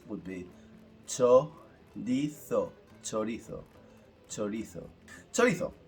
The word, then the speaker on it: chorizo: However, the pronunciation, the proper pronunciation, the way we pronounce this word in Spanish, it's a slightly different. So the word pronounced would be chorizo, chorizo, chorizo.